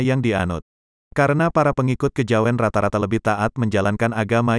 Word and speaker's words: Kejawen: Kejawen adalah kata bentukan yang berasal dari kata kejawian, dengan keluasan lidah orang Jawa diucapkan menjadi kejawen.